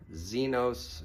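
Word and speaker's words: ξένος: Zenos means stranger. It's spelled with an X.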